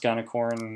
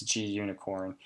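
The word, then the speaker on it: Gunicorn: something called G unicorn I've heard a pronounced Ghana corn I don't find that a very attractive pronunciation and the documentation shows a unicorn so I'm under the belief it's G unicorn and regardless all this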